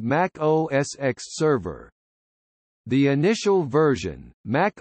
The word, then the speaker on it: Mac OS X: The X in Mac OS X and OS X is the Roman numeral for the number 10 and is pronounced as such.